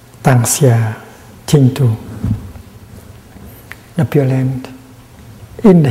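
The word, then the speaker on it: 當下淨土: And in modern Chinese, it's written pronounced Tang Xia Ching Tu, the Pure Land in the here, in the present moment.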